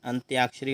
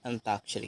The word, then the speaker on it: अंत्याक्षरी: उच्चारण करते हैं साथियों उच्चारण करते हैं घृत अंत्याक्षरी याद रखना अंत्याक्षरी होता है ना कि अंताक्षरी है और एक और